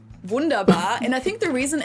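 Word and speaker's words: wunderbar: The W is going to be a V, right? Vanderbar. It's not Wonderbar. It's a Why got It's not Wonderbar. It's Vunderar. Vunderar. It doesn't sound right. Vunderbar. English. People usually say Wonderbar in German. It's Vundaba. Vundabar.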